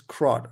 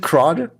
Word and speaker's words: CRUD: What is CRO? Is am I pronouncing create Um, read, update, delete. Ah, is it CRUD?